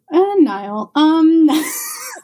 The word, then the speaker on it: Niall: Do you stay with Neil then? Niall. I know I said it wrong, and I'm correcting you.